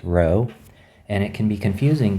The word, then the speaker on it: rho: for resistivity is called row so the way you pronounce this letter is rho and it can be